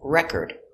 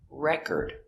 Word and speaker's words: record: If it's a noun, the stress is on the first syllable.